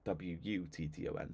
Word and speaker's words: Wotton: But when the AI says it, it's better when it says it WUTTON. So you need to spell it WU so that it sounds better.